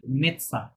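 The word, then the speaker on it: médecin: ডির পরে যে মেডসান ওটা আছে ওটা উচ্চারণ আসে না, মেটসা, স্ট্রেট করে বলেন মেটসা, মেপসা মেটসা।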